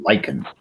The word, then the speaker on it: lichen: It's pronounced lichen.